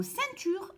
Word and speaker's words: ceinture: Nous avons appris que le C devant le E se lit se. Donc ici, E-I-N se lit sein. Ceinture.